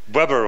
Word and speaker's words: Weber: It's my pleasure to welcome Mark Weber. Weber, how do you pronounce it? Weber. Weber, with yeah, not a B-boy, a good German pronunciation.